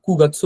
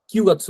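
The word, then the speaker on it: 九月: নানাজি কথাটা বলে না তারপর সেপ্টেম্বর মাস যদি বলতে হয় তাহলে কুগাসু বলে কিউগাছু বলে না তারপরনয়টা বাজে এরকম বলতে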